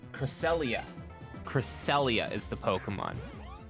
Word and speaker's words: Cresselia: But it's Cresselia.